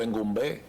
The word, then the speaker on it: Engombe: Originalmente la idea era hacerlo hidráulico con el río Jaina, que por cierto, otra palabra, Engombe es una palabra africana, Bantú, Sí. significa ganado, Engombe, se pronuncia más o menos así.